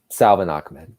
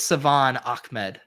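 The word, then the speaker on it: Salvon Ahmed: right do this um salva nachman i believe it's savan ahmed oh it is i i i pronounce the l i messed that up oh did we take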